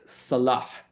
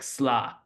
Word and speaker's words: salah: And then another good word is the word for prayer, which is salah. So, and in Syrian, sort of American Syrian parlance, it sometimes ends up being pronounced like sla, you know.